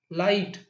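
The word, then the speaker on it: light: लेकिन जी एच क्या है इसमें? साइलेंट है। इसे हम प्रोनाउंस नहीं कर रहे हैं।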